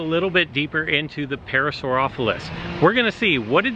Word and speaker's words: Parasaurolophus: Okay, it's Parasaurolophus.